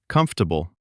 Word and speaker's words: comfortable: It looks like it has four syllables. Comfortable. But most native speakers say it in three. Comfortable. Comfortable. Comfortable. Yes, that middle syllable just disappears in natural speech.